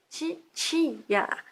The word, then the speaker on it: titia: Na pronúncia normal do Sudeste, a consoante que escrevemos T é pronunciada TS, como em tcheco, toda vez que é seguida de um I. Esse fenômeno fonético se chama palatalização. Por causa dele, nós sudestinos pronunciamos TSI, TSIA, titia, a palavra escrita TITIA, titia.